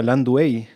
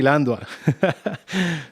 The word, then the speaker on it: Landua: Yo siempre te he dicho Landua, pero últimamente escucho que se pronuncia Landuey. Sí, pero los nombres en español hay que pronunciarlo en español nomás. Bueno, entonces Landua.